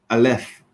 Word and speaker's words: aleph: It's spelled with an A. Oh, all right. Yeah. It's actually spelled and said aleph, Uh-huh.